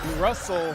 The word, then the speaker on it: Russell: genius that's his Brilliance Russell rhymes with funnel how to Market how